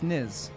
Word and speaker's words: Nas: Well, someone said it's not pronounced Nas. It's Niz.